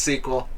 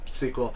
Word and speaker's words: SQL: out what you need to code is it sequel i always read squirrel that's pretty funny yes it does look like squirrel no it's pronounced sequel it is definitely pronounced sequel it's even funnier if you knew how many